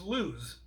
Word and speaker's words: lose: So first one is lose. Okay, like it's not found.